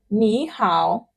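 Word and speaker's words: 你好: So even though it is written ni hao, you pronounce it ni hao, this ni changes to second tone, which is ni, sort of ni. So ni hao, ni hao.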